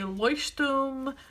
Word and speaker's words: Leuchtturm: And then this is a Leuchtturm notebook. That is the German pronunciation from what I understand online, so don't make fun of me for saying it like that. I know most people say Leuchtturm, like American people say Leuchtturm, but whatever.